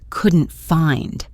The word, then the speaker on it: couldn't: We don't really pronounce the t and couldn't very strongly, especially when it's followed by a consonant like the f in find. It sounds more like couldn't find.